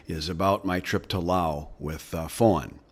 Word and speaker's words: Laos: about my trip to Laos with Fawn, which Lao is what it's pronounced.